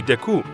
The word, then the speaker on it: Deku: mojo this was because the French pronunciation of Deku would be Deku which sounds like a slang term for feces in French however one